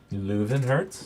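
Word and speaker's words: Löwenherz: With how do you pronounce it again? Leuvenherz.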